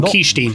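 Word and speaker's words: Kyshtym: Oh, Kishtim, that's how you say it.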